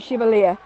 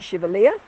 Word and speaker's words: Chevalier: we are on point chevalier so it's a bit of a um standing joke in new zealand that we do call it point chevalier when it probably should be point chevalier so we have an